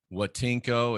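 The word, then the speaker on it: Voitenko: his name is igor watinko it starts with a v but he's russian so he pronounces it um like it's like as a w igor watinko he has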